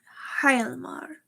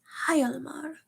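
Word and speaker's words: Hjalmar: It's spelled Hialmar. Hyalmar. Hyalmar. Hyalmar. I think that's how it's pronounced.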